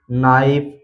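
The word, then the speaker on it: knife: पहले के आया है इसलिए यहां पर के साइलेंट है सीधा पढ़ा गया है नो इसी तरह नोक इसी तरह नी नाइफ नॉलेज नीड तो इन सभी व में आप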